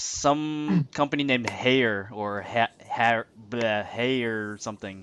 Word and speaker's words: Haier: it's some company named Hayer or Hayer something. HAIER. Yes, three straight vowels. I don't know how to pronounce it. Sounds like higher.